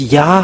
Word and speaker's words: Yah: Have this Yah, how to read it. Yah is the way how to read it. So remember it well when you say this Yod and Hey, it's Yah, how to read it. You don't go far away, but immediately you say Yah.